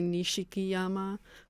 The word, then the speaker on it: Nishikiyama: That is like it is a weird way of pronounce pronouncing it right because it would be Nishikiyama but that doesn't sound that good series for many years.